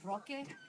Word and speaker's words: Roque: It's Roque.